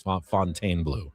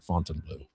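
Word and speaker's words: Fontainebleau: Adam, I've been pronouncing Fontaine Blue wrong. It's Fontaine Blue, not Fontine Blue.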